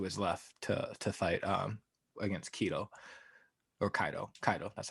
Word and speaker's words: Kaido: The fact that currently in One Piece he did actually switch it to his left to fight against Kaido. That's how it's pronounced.